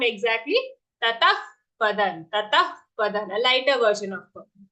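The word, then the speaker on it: ततः पदं: When we exhale, it should sound something like a fa. Okay, a fa-like sound. Tatah padan. So not tataha padan.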